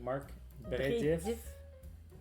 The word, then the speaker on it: Marc Brédif: So it's a Marc Brédif. Am I pronouncing that correctly? Yep. Marc Brédif, Chenin Blanc, Vouvray.